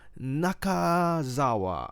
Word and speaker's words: Nakazawa: Michael Nakazawa, right?